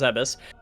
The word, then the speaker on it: Zebes: They've always said that the Chozo were believed to be extinct, and we've known that the Chozo on Zebes, and yes, it's pronounced Zebes, were wiped out during Mother Brain's incursion.